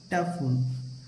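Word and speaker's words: tough: का हो गया टी अब ओ यजी एच को क्या पढ़ेंगे फ क्या हो जाएगा टफ अब देखिए इ का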